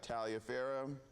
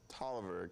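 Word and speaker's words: Taliaferro: and then we have Talia Farrow or I'm sorry I believe that's pronounced Tolliver County and the Orange County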